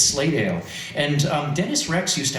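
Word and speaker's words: Slatedale: the name of dennis rex who is from slaydale uh lehigh county and you'll notice i pronounce that the way people pronounce it locally not slate dale it's slaydale and dennis rex used to actually have a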